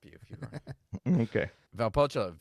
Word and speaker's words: Valpolicella: You added an extra L at the beginning.